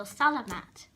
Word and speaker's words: salamat: And if this your friend of yours do something nice to you, you say salamat sayo, like salamander, but replace the nda with a T, so salamat, and sayo and that means thank you.